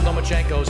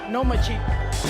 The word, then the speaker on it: Lomachenko: You are now the mandatory challenger for Vasily Lomachenko's 135-pound title. Do you believe at 20 years old you're ready for that type of challenge? I think you said his name wrong. It's Lomachenko.